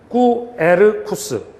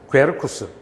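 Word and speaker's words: Quercus: 게르쿠스, 켈트어로 좋은 목재라는 뜻인데요. 얘를 구라고 발음하시고 아니면 꾸라고 발음하시는 하나의 자음으로 발음하시고 꾸에르쿠스, 괴르쿠스 이렇게 발음하시면 됩니다.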